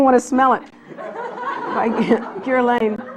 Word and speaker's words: Guerlain: By Guerlain.